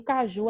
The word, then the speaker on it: caju: Em caju a gente tem o ju também.